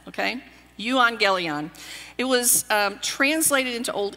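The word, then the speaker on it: εὐαγγέλιον: a funny sounding word in ancient Greek it's pronounced you angelian and by the way that's with a little bit of a Texas accent okay you angelian it was translated into Old English as Godspell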